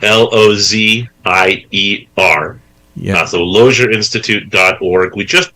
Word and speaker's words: Lozier: be going to the website of the Charlotte Lozier Institute and downloading some of the really high quality academic papers that are located there.